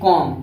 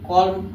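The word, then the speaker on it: calm: जैसे कॉम, इसको क्या पढ़ेंगे सी ए यल यम नहीं पढ़ेंगे, कॉल्म कॉल्म नहीं पढ़ेंगे, इसको कॉम पढ़ेंगे, कॉम।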